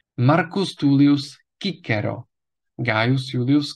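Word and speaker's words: Cicero: stejná jména která už jsme měli v restituované výslovnosti Marcus tulius kicero Gaius Julius kaisar Lucius cornelius skipo africanus gigula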